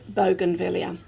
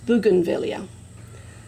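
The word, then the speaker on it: bougainvillea: where they come from and in Australia we pronounce it Bogen vilia but it actually the correct pronunciation is buganvilia so but to all of the Potters that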